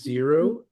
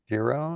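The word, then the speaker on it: Xero: We use Zero. How do you spell that? X E R O Zero.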